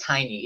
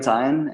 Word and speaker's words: Tyne: How do you pronounce your name? That I always seem to pronounce it tiny. Is it Tywin? It's Tyne, yeah.